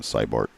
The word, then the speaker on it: Sbert: I believe the correct pronunciation cybart. Yeah, it was actually spelled wrong in um digital pool. Oh, okay. But no spelled correct. Yeah, it is with a C, but it's Cybart. Correct pronunciation. I think it's a Slavic pronunciation of sorts.